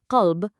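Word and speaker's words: قلب: In Arabic, qalb, listen to that deep, resonant back of the throat kh.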